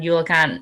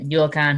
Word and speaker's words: eulachon: of the background on yolocon and maybe i should start off by seeing there's a lot of different ways to a lot of pronunciations um yulkan hooligan and then the clinket name is sock and so um any